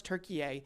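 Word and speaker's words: Türkiye: to say it right it is not turkey anymore it's turkey a whatever happens here though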